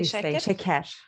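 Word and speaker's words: şeker: You say sheker. Sheker. Okay. I see shecher and you say sheker.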